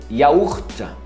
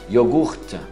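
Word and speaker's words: yaourt: Agora, laticínios, iogurte, tem iaurta, é muito mais usado iaurta, tem gente que pronuncia também iogurta, já ouvi em alguns casos, mas vamos partir do princípio, iaurta, você solta um T mudo lá no final. O Y é I mesmo. Iaurta.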